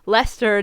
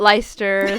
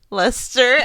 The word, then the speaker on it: Leicester: channel we are shooting from Lester not leister thank you very much no just kidding so we have an announcement we will no longer be pronouncing like Lester as leister fictional are due to